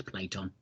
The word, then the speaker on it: Platon: This image of Prince was shot by, is it Platon or Platon? I think I read it as Platon, but he likes to pronounce it as Platon.